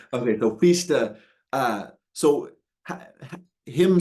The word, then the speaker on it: Fichte: How do you I say Fichte because I was corrected by a German speaker because okay. Fichte means fuck in German. Okay, gotcha. All right. Okay, so Fichte, so ha, him saying